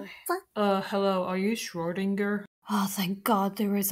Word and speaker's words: Schrödinger: First of all, it's pronounced Schrodinger, you dumbass.